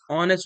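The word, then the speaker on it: honest: She gave dash dash ऑनेस्ट reply, ऑनेस्ट से pronunciation an ऑनेस्ट reply, ठीक है, एन ऑनेस्ट reply.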